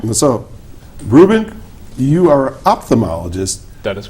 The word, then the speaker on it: ophthalmologist: We we left out the first H. I was good after that, but that H was It's a like silent H.